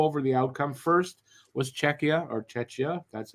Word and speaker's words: Czechia: First was Czechia. That's how you pronounce it.